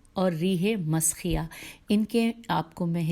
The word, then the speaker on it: مسخیہ: رے یہ ہے اور زیر ہے، اور منسیہ ہے میم نون سین یہ ہے، اور اس کے بعد ہے ریح مسخیہ میم سین خے یہ ہے.